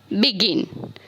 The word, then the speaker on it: begin: to pronounce the word we give the stress on the second syllable for example begin so b and gin